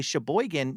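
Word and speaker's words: Sheboygan: Ellen, tell everyone about Paradigm Coffee and Music in Shabboan, which gives me the opportunity to say Shboigan now twice in this episode.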